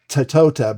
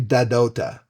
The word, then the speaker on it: Tahtotah: You would think it would be pronounced Tatota, but it's actually Dadota.